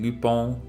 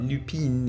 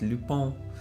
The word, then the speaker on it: Lupin: who have been watching lupone because that's how it's pronounced in france i think but i'm not french so i probably got it wrong but it's not lupin it's lupone lupone the third greatest